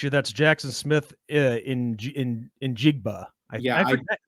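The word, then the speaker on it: Smith-Njigba: ben i got to correct you that's jackson smith in in jigba yeah it's hard to say his name is the pronunciation just so i wouldn't make a fool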